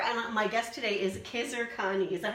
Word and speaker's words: Khizer Khani: Hi there, I'm Liz Taylor, and my guest today is Khizer Khani. Is that how you pronounce it?